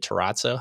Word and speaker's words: terrazzo: And I put that is it terrazzo? How do you say that? Terrazzo. Terrazzo. You gotta do the whole accent with it.